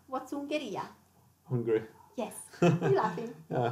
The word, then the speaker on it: Ungheria: Then we have Ungheria. What's Ungheria? Hungary. Yes. You're laughing. Yeah, Hungary. Yeah. You don't pronounce the H anyway. No, we don't have the H. Yeah, yeah, yeah. Ungheria.